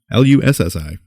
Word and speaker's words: Lussi: I keep saying Lucci. Nope. Lussi.